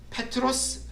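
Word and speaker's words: Πέτρος: 저기 나오는 저 표현에 베드로라는 말이 그리스로 페트로스 말로 발음이 됩니다 페트로스 베드로 근데이 베드로라는 말이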